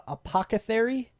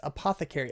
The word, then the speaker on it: apothecary: but for some reason i like to say uh apoca theory yeah when it's apothecary i don't know why i